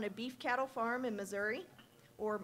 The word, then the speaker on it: Missouri: Klippenstein grew up on a beef cattle farm in Missouri, or Missouri, as I'm told it's pronounced by the locals.